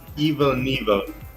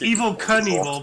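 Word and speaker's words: Evel Knievel: and evil right so how is it pronounced yeah it's it's Evil Knievel but evil and evil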